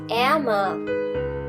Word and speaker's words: ärmer: The A changes to A with umlaut. Hence the pronunciation will also change. Arm, ärmer, am ärmsten.